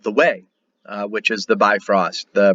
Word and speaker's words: Weg: not called the Bifrost, it's called the Way. Weg is how it's spelled, Uueg.